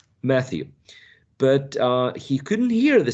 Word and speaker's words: Matthew: name was Matthew well Matthew is pronounced with this one Matthew with us right with this sound Matthew but he couldn't hear